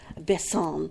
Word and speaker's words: Besson: I've never known how to say his last name, Besson, or do you say it French, like Besson? It's Besson. Besson.